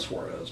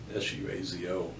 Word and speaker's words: Suazo: Let's see, Miguel, I can never pronounce his last name, Suazo, I think. It's not Suarez, but Suazo, I believe.